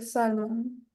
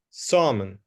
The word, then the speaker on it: Salmon: No suena la L, no es salmon. Es summon. Summon.